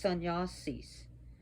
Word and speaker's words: sannyasis: Yeah, sun, it's got to be pronounced sannyasis.